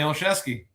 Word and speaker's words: Olszewski: that's Congressman uh, Johnny Oeski. Did I pronounce that right, Johnny? You got it. Johnny Oeski.